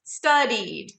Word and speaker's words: studied: or study becomes sorry study two syllables and not study becomes studied i guess offer became